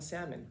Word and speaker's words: salmon: all of that from him pronouncing the L and salmon yes yes of course